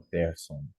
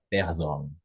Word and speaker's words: Person: inglês né É no Person aham na hora de ler Person é o é o s com som de z exatamente o alemão som